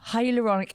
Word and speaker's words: hyaluronic: How do you pronounce that word? Hyaluronic acid.